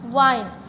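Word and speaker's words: wine: देख लेते हैं कि जैसे हमने पढ़ा था विन, WIN, विन short vowel है, लेकिन जब इसके एंड पर हम क्या लगाते हैं, साइलेंट ई लगा देते हैं, तो विन बिकम वाइन।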